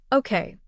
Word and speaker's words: Okja: Okja, Korean, pronounced Okja, is a 2017 science fantasy action-adventure film directed